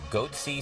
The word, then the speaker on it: Goatse: getting the goatsy picture they're called goat c security is that my pronouncing that correctly yeah that's right we're analyzing coverage from